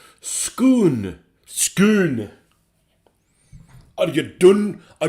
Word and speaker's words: Scone: Some are scone, and for us Scots, it's complicated by the place name Scone, which is pronounced Scoon.